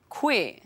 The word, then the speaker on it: koe: Koe. You've already seen this in the greetings we learnt today. Koe means you, one person.